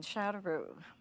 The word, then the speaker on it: Châteauroux: We met in France in 1959 in Châteauroux.